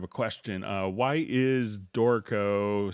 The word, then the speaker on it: Dorico: always you know so we have to pronounce it very italian dorco you know so that's